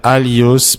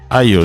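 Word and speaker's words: ἄλλος: Aios. Je n'ai pas bien prononcé, mais c'est A-2-L-I-O-S. Étudie Alios Parakletos.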